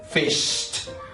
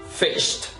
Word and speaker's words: fished: en un sonido sordo, la pronunciación va a ser como una T. Así que entonces, aquí dirías fish. Y aquí vas a decir lo mismo, pero agregándole este sonido. Sería fished. Fished.